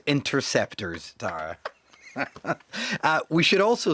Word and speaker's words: Interceptors: You might also know him from the BBC's Scam Interceptors programme. Interceptors. I knew I'd said it wrong, but I couldn't think why. Hot kettle black. It's pronounced Interceptors, Tara.